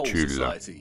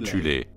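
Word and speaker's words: Thule: Avant la montée du régime national-socialiste, il existait en Allemagne une société secrète occulte appelée la Société de Tulle, parfois prononcée alternativement Thulé, composée de sous-factions en son sein.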